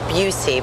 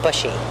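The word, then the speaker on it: Buhse: Well, the most important is Patrick Buucy, but it's spelled B U H S E. So, a lot of people call him Bushy.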